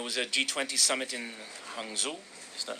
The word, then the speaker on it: Hangzhou: There was a G20 summit in Hangzhou. Is that how you... Hangzhou? Hangzhou? Yes. Is that how you Yes. pronounce it? Hangzhou.